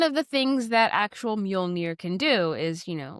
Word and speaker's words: Mjölnir: No, I can actually pronounce Muolnir, but it was nicknamed Miumu in Thor in